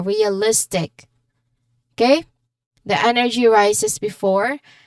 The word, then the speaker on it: realistic: So the stress is before I in realistic. Okay, listic. So list is our stressed syllable realistic.